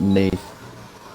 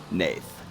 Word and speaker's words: Nath: It's pronounced Nath, by the way. Nath. Gotcha. Like Nathan.